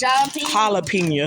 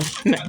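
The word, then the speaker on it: jalapeño: It's jalapeno. Jalapeno. That J is not pronounced. It's pronounced like an H.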